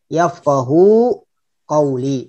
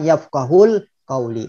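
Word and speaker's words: يفقهوا قولي: anak didiknya itu sebenarnya Bacanya adalah yang baik yafqohu qouli bukan yafkahul kauli karena sebelum sel-sel apa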